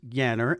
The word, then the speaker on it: Janner: your last name is spelled Janner, pronounced Yanner, and you told me a neat story before we started recording.